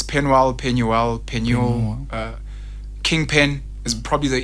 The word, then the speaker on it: Penuel: Should I say King Penuel?